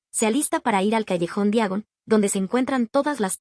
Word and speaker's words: callejón Diagon: Al lanzarse a las llamas, pronuncia mal su destino. En lugar de callejón Diagon, dice algo que suena más bien como Calellón Diagonol.